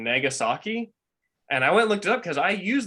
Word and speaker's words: Nagasaki: i was like was i wrong to pronounce it nagasaki but no i was right for whatever reason i